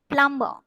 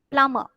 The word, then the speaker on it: plumber: Ein, tomb, thumb, plumber, plumber. Thus, B should not be pronounced. All these words, this B is silenced. Climb, tomb, thumb, plumber. You should not pronounce this B. Okay, it's not plumber, it is plumber.